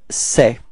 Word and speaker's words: sais: get the form je sais. Repeat. Je sais. Okay, so you can see that we've got a final S, but as usual we don't pronounce it, so it's je sais.